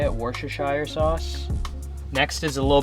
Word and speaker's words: Worcestershire: is one of the key ingredients it's the Worcestershire I think that's how you say it Worcestershire sauce next is a little bit of ketchup